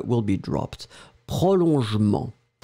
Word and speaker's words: prolongement: then the second one, prolongement, but then the je, you don't insist on that, so it will be prolongement, jement, remember, the E will be dropped, prolongement, prolongation, prolongement.